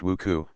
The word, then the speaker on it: WUCO: only wu but also wuco pronounced wuku for western union company we should know we